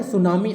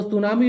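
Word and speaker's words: tsunami: टी इसमें silent होता है ना सुनामी में।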